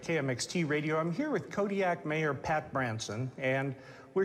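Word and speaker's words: Kodiak: In the Aleutic language, the Qs are more come from like your throat than a normal K does. How would we pronounce it then? Kodiaq.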